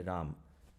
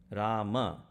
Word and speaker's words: Rama: 13 syllable mantra and you're taking one of the syllables out each time you say ram okay i'm sorry for all the north indian people but that is not how it is rama so shri rama i'll